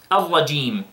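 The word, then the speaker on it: الرجيم: Don't pronounce the jim in a level between the jim and the sheen.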